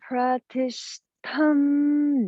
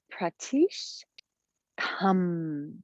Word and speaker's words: Pratishtham: So pratish tum. So that tum is pronounced by drawing the belly in forcefully. And it almost forces the air, the tum, out. So it comes from deep within.